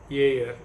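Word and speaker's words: Ayer: is a british philosopher by name alfred yule year aj is spelled as a y e r and he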